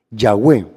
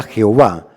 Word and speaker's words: Yahweh: sea que al principio el nombre de Dios no era Jehová sino que es Yahweh la vocales de adonay se le incrustaron a las cuatro consonantes para poderse pronunciar Yahweh lo interesante es que